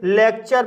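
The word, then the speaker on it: lecture: हैं जैसे थीम थ्रोम जब किसी वर्ड में टी के बाद यू आर ई आता है तब टी का उच्चारण च किया जाता है जैसे लेक्चर लेक्चर शब्द में टी के बाद यू आर ई आया है इसलिए टी का उच्चारण च होगा इसलिए इसे लेक्चर पढ़ा जाता है इसी तरह से कल्चर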